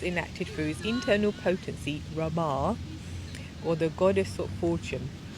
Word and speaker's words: Rama: Rama, it's another name for Lakshmi. Yeah, Rama. Rama. R-A-M-A, but the last A is a long A.